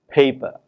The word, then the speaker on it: paper: For example, when we have a word such as paper, the first syllable pay is stressed, and it is clearly heard to be pronounced with more breath than per, paper.